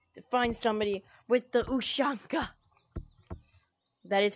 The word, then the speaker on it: ushanka: us that long to find somebody with the ushanka that is how it's pronounced okay you are not giving me a